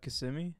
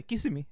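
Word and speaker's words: Kissimmee: old Kissam yeah sh how do you pronounce it in like the real English terms uh KMI KMI yeah brown people say kissim kissi yeah so I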